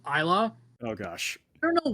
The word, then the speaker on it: Isla: For first, I'm pretty sure it's pronounced Isla.